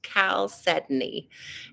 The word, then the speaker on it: chalcedony: Some people pronounce it chalcedony. That's the literal phonetic way to say it, but it's actually pronounced chalcedony.